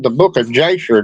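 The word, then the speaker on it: Jasher: But you know it's called the book of Jer. J A S H E R but it's actually Yer because that's the way they pronounce their J is wise.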